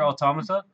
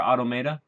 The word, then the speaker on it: Automata: Like Nier Automata or Automata, however you want to pronounce it.